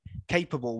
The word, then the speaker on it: capable: Okay, so everyone knows, okay, the stress is the first option. You can try this yourself. It's actually quite difficult. Try it yourself. Try saying capable with the stress on the last syllable.